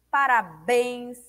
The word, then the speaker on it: parabéns: Parabéns é o bens.